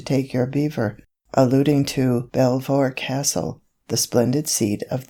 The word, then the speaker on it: Belvoir: your beaver alluding to belvoir castle the splendid seed of the duke of rutland which in the language of the clay is pronounced precisely in the same way as the name of that animal whom man robs of